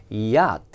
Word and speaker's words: yacht: 우리가 요트라고 하는 단어인데 발음은 yacht 이렇게.